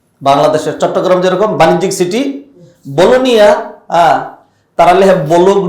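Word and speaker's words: Bologna: হলো ইটালির চট্টগ্রাম বাংলাদেশের চট্টগ্রাম যেরকম বাণিজ্যিক সিটি বলোনিয়া তারা লেখে বলুক না বি ও এল ও জি এন এ কিন্তু উচ্চারণ হয় বলোনিয়া জি এর উচ্চারণ হয় না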